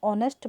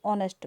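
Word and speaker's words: honest: A holy city, an ऑनेस्ट मैन, H silent है और bowel sound है ऑनेस्ट मैन.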